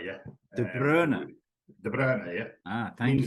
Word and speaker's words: De Bruyne: The English people pronounce it wrong, right? It's Kevin De Bruyne, yeah. De Bruyne.